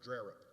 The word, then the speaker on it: Drerup: And to accomplish this goal, Captain Drerup, and her name is pronounced Drerup, by the way. She's from the Panhandle like I am, and they pronounce things their own way up there, even though the name doesn't look like Drerup.